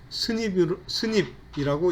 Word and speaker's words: SNP: 이것은 싱글 누클레오타이드 폴리모피즘, 그래서 약어로 SNP로 표시하는데 읽을 때는 스닙이라고 읽습니다.